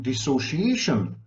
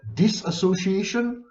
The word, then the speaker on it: dissociation: You're mispronouncing dissociation. It should be disassociation. I heard it from this self-styled expert." Well, anyone who uses the word disassociation is not an expert.